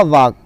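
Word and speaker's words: walk: Next है आपका वाक। वाक का मतलब होता है चलना, इसमें एल साइलेंट है।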